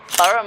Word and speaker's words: Borough: It's spelled Greenwich, but it's said Greenwich. Borough Market, which is one of the bigger markets in London.